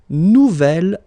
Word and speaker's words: nouvel: J'aime mon nouvel ordinateur. Nouvelle, phonetically you pronounce it like the feminine version, but then you write it N-O-U-V-E-L.